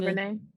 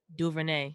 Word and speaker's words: DuVernay: Ava DuVernay. DuVernay.